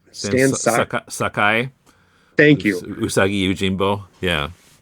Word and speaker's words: Stan Sakai: it's an anthology with some how do you pronounce his name? Stan Sakai.